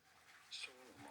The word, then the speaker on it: Solomon: His name shall be It in British English and in American English, as the two pronunciations are different. In British English, this is normally said as Solomon.